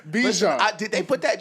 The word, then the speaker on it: Bijan: We're going to start pronouncing his name correctly on this podcast. All right. Bijan. All right. Like the mustard. Bijan.